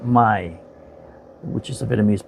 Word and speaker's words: Mai: today we're going to discuss a film called my it's sped m a I and it's pronounced my which is a vienamese pronunciation and it's on